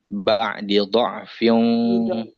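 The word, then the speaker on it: بَعْدِ ضَعْفٍ: Ba'di tidak. Ba'di dha'fin dari mim. Dotnya langsung ketemu ini ya. Tadi yang D-nya jadi Bunda ini tadi bacanya begini. Mim ba'di jangan itu tidak panjang dia.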